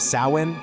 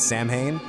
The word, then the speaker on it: Samhain: And by the way, it's pronounced sin, not Sam Hane.